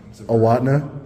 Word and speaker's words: Owatonna: Owatonna.